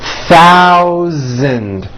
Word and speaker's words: thousand: In this paragraph, be aware of my pronunciation of numbers, especially the TH and the voiced Z sound, Z, in the word thousand.